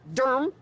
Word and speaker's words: Durham: the old becomes the new we are in Durham do you are M as they pronounce it here that's why I got the